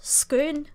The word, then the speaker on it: Scone: So, but it also could be from a Scottish town called Scone, but it's pronounced Scone.